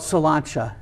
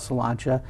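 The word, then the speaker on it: Sláinte: name of that place it's called solanta but it's spelled like slain s l a i n t but it's it's an Irish pub called salanta and really if you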